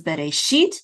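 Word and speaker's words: בְּרֵאשִׁית: So this is Bereshit. The accent is on the last syllable, sheet.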